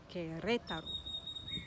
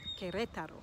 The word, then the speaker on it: Querétaro: And another state in Mexico is Querétaro. Querétaro. So the emphasis is on the second one.